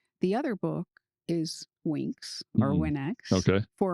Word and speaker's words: Winx: So Winx, Okay.